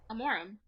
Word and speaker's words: Amaram: you pronounce my last name? Amorum. Yeah. That's how you told me to. I know. I just wanted to know. Some people. I mean, I say that's very, anglicized, but that's how we say it.